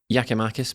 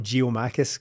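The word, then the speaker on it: Giakoumakis: i don't know but it's definitely not geomaticus because it cuts out a whole syllable right in the middle of it so really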